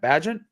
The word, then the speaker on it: Bagent: But we were playing the game right before we went on air about how to pronounce Tyson Bagent's name. I think I got that right. Is that what we're going with? Bagent? Bagent.